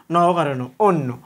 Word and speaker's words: অন্য: দ্বিতীয়ত লিখছি আমি অন্য তাহলে অর পরে যদি জ ফালা থাকে অটার উচ্চারণ হবে ওর মতো আর জ ফালাটা দুই ভাবে দুইটা ন লিখতে হবে তাহলে অন্য তাহলে দেখোতো এটা আমরা